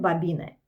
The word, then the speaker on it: Babine: Hombre, se escribe Karen Babine, pero se pronuncia Babine y esto lo aprendí muy bien, muy bien, muy bien porque pronuncia su apellido en su libro como 500 veces.